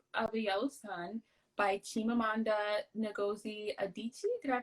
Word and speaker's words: Chimamanda Ngozi Adichie: we're reading half of the yellow sun by chimamanda ngozi adichie did i pronounce her name right that was good yes